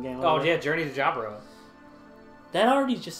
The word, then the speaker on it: Jaburo: It's Jaburo, actually. It's Jaburo. You mean Haburo? No, but it's Jaburo. Why would it be pronounced Jaburo? Because it's in not South America. It's not Spanish. It's Portuguese. So Portuguese and Spanish are very close. They're very similar, but they do have the J sound in Portuguese.